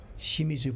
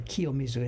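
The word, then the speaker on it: 清水: this is i know kiyomizu clean water shimizu pronunciation or kiyomizu in this case and i think this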